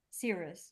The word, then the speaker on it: Cirrus: No, it's C. It's not Psy. It's C. Cirrus.